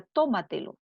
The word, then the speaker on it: tómatelo: de la antepenúltima sílaba tenemos la palabra tómatelo ahí está la sílaba tónica la palabra entrega se